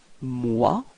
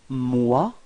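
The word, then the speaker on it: moi: first person we've got MOA okay repeat MOA okay so keep in mind that this uh o e sound is w w w okay so if you combine it with M you get m m repeat okay second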